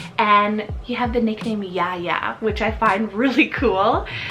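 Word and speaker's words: Yahya: back over to the boys side we have Yaya so y-a-h-y-a yeah yeah I have actually been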